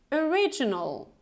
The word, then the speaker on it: original: We have this schwa sound at the beginning, so it's not o, it's original.